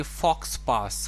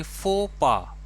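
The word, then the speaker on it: faux pas: शायद आप इसे पढ़ेंगे फॉक्स पास, कुछ ऐसा पढ़ेंगे, लेकिन इसको हम प्रोनाउंस करेंगे फो पा। यानी कि आप ऐसे हिंदी में अगर पढ़ेंगे तो फोपा पढ़ेंगे इसे। यानी कि यूँ समझिए, ये हो गया फो, ये हो गया पा, फोपा।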